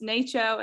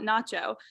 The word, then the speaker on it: NACCHO: I found out that it is pronounced NACCHO and not Nacho, as I had been incorrectly saying for quite some time now.